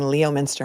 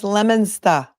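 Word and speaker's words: Leominster: lemona the other day I was saying Leo Minster and you're like no it's lemona lemona so I got that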